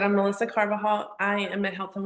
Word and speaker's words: Carbajal: Carbajal.